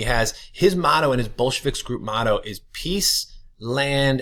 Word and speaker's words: Bolshevik: there it is that is exactly how it's pronounced it is Bolshevik I know it sounds like bad word but